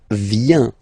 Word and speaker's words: vient: Okay, then il, elle, vient, final T not pronounced.